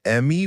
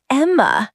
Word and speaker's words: Emma: Are you the Emmy family? Almost. It's Emma, not Emmy.